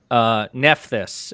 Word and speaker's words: Nephthys: Nephthys is what Nevercroft says. Nephthys. Okay. Oh yeah, I guess that's how it's pronounced in Prince of Egypt.